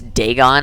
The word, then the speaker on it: Dagon: philistine legend of dagon it's dagon i've been mispronouncing it the whole time darn but he said